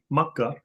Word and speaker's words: Makkah: you just left Makkah which is how many Muslims pronounce the word for Mecca. Makkah.